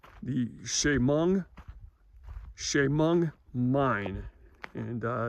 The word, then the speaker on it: Chemung: your time but this mine is called the Shamong Shamong mine and uh it's pronounced c h e m u n g Shamong mine and um though back in the day